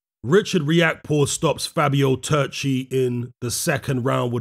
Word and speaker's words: Turchi: maybe it's accurate but i prefer to call him turchi pronounce his name frenetically so yeah richard react